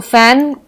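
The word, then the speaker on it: phone: लेकिन इसका उच्चारण जो है वो फ का आता है।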